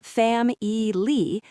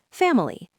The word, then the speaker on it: family: We do not say fam-e-ly, we stress the first syllable, fam. The middle syllable with the letter I gets reduced to a schwa, or sometimes it disappears entirely, family.